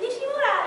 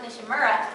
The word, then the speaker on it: Nishimura: And she's like, Nishimura. And I'm like, well, I'm from Texas, so we pronounce it Nishimura. But whatever you want.